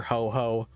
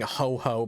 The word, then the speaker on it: Ho-Oh: one island to capture Ho-Oh or Lugia, depending on the version. Yeah, I got stuck saying Ho-Ho because of Ho-Ho News, the Japanese website I use for deck list. That's how it's spelled.